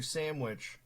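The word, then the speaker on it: Samwitch: costs I fun fun story uh twitch streamer sandwich uh the witch spelled like s-a-m-w-i-t-c-h she just did a Chatters award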